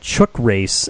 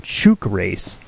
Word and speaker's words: Chook Race: The band is called Chook Race, but we called them Chook Race because we didn't know what that word meant.